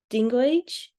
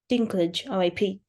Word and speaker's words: Dinklage: what um the actor Peter dingo age is that how you pronounce it I think Dinklage Peter dinglage sorry guys um yeah when